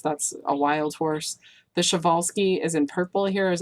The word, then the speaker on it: Przewalski: rise to the Arabians and the Tarpeian the Przewalski's that's actually how you pronounce that limit which is in Siberia and